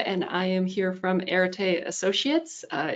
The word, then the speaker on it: Areté: i am here from erite associates uh it was a very good attempt at pronouncing the company name but almost nobody can get it right the first time so uh yeah irritate associates i also have in